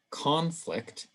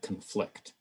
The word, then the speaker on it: conflict: different stress patterns so we have permit and permit present and present and same thing with conflict and conflict in english generally when